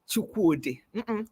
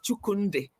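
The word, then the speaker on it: Chukwudi: It's a Chioma Chukwude. Not Chukunde. Chuku, C-H-U-K-W-U-D-I, no N-D-I.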